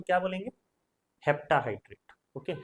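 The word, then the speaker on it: heptahydrate: होगा तो क्या बोलेंगे hepta हाइड्रेट okay hepta septa नहीं हेप्टा हाइड्रेट ओके फिर नेक्स्ट आपका है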